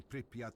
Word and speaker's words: Pripyat: Schematics for the Pripyat 1 underpass.